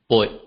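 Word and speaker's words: 八: 8 is pronounced as boy, boy.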